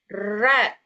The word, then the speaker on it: read: ee read ya ah read kemudian ada have. Nah, saat ada have begini kata kerjanya read-nya ini kita bacanya sebagai past participle sebagai read. Oke. Bukan have you read.